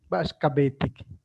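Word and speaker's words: Ba'ax ka beetik: Ba'ash es Ba'ash kabetik, así se pronuncia.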